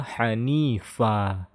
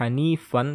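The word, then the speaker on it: حنيفا: Dibaca hanifa. Tidak hanifan, tapi hanifa.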